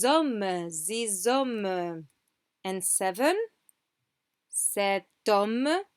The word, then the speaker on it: sept hommes: Sept hommes, sept hommes. We pronounce the T, but we just link it to the next word.